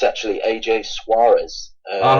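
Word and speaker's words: Soares: Someone else, AJ Soers, I was aware of. I've heard of him. I've noticed he's generally the other starting centre back for you. Yes, he pronounced it's actually AJ Suarez.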